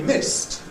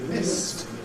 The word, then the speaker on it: missed: You'll be missed. You'll be missed. I've missed you while you were away. Missed. It sounds just the same, in fact, as another word, mist, meaning fog.